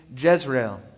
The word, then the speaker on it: Jezreel: The first one is named Jezreel, a name that's spelled like in Hebrew and sounds like Israel.